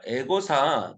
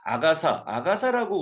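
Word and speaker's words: Agatha: 이 그 소설 중에 에거사 크리스트, 악어사라고도 하고요. 이게 조금 이 영어로의 발음이 다를 수 있습니다. 에거사라고 할 때도 있고 아가사라고 우리는 아가사라고 한 경우도 있었죠.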